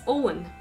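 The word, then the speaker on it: Eoghan: ian nope sebastian what is it it's owen okay owen owen for us it's o-w-e-n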